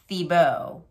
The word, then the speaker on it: Thiebaud: inspired by the artist wayne thibo his name is spelled thiebaud but it's pronounced thibo he's an american artist